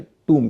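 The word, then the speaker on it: tomb: शब्द के आखिर में है लेकिन ओ का उच्चारण य उ होता है चाहे वूम का मामला हो चाहे टूम का मामला हो और इसकी वजह यह है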